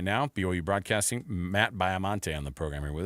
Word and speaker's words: Baiamonte: Matt, first of all, I thought it was pronounced.